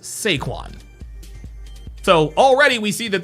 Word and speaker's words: Saquon: His name is not Saquon. His name is Sequin.